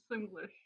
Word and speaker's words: Simlish: my face Sim Sim simlish how do you pronounce it simlish you had it that was correct the first time here we go now